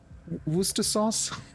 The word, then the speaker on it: Worcestershire: Warrick why I mean it's like that oh Wooster sauce Worcester Shire the one that every normal person would call